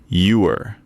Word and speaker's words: ewer: It's pronounced ewer.